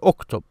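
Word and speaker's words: اكتب: So if you ask someone to write, you say uktub. Notice I pronounce this connecting hamza because I started with it. I pronounced that a sound. So I said oh, uktub.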